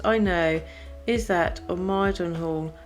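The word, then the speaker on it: Mildenhall: know is that of miden Hall pronounced Minn near MBA it stands in the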